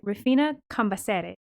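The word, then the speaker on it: Rufina Cambaceres: socialite refina campaseri and i cannot help but pronounce it the proper way because i took two semesters of spanish with an argentinian professor who would who would kill me if i didn't do it right you're like this is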